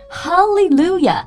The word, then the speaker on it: Hallelujah: ，就会来这么一句 Hallelujah，这个 H 是不发音的。